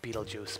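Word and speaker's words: Betelgeuse: I think it's called Beetlejuice, but it's spelled beetle guys.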